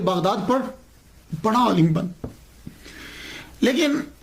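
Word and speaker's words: بغداد: आप बगदाद की तरफ रवाना हो गए। ये जो बगदाद है ना ये असल में इसका प्रोनाउंसिएशन बागदाद है। लेकिन कसरत इस्तेमाल की वजह से अली गिर गया। अलफ गिर गया।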